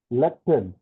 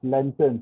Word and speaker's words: lectern: Next word is lectern. Len and not lantern. Sometime we pronounce it as lantern.